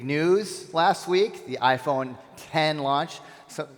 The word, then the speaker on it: X: Big news last week, the iPhone 10 launch. So it's interesting, there was an article that came out that said people are mispronouncing 10 because they look at the X, they call it the X.